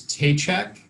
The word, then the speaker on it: Tejcek: that it matters but it's uh it's t-check like i'm sorry no it's it's one of those uh impossible to pronounce last names nobody could possibly ever get it right so and